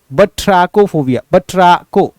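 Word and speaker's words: batrachophobia: बट्रैको, बट्रैको, बट्रैको, बट्राकोफोबिया, बट्रैको ऐसे करके, बट्रैको तो मैं बोल रहा हूँ, इसका एक्चुअल प्रोनाउंसिएशन होता है बट्रैकोफोबिया।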